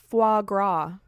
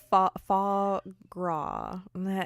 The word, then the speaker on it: foie gras: also doing it with frog wah foie gras and the more I say it the more I'm positive I was saying it wrong so we should just